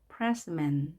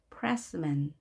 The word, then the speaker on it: pressman: 이의 강세가 있으면 나머지 몸은 약하게 현상이 약하게 어나 으 발음하지만 여기 에 발음 보이죠? pressman. 이렇게 발음해야 되겠죠? pressman.